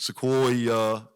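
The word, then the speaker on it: Sequoyah: But Sequoia is 3 syllables.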